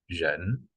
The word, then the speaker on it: 人: And in Chinese, it pronounced like 人, 人 with rising tone.